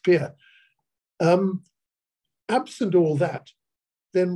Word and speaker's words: Pierre: there needs to know it's called Pierre pronounced Pierre um absent all that